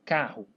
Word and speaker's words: carro: A palavra carro, né? Carro. Carro. Esse R, né, ele tem som de um R só, tá?